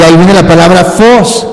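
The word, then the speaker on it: φῶς: de que lo apunten es fos pero se escribe ph en vez de F PH Y esa es la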